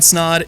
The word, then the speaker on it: Snaadt: everybody my name is snod it rhymes with odd and welcome to the